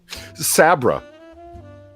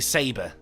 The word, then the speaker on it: Sabra: what you were doing sabra i think you're mispronouncing saber no the princess's name that saint george saved was sabra s-a-b-r-a i just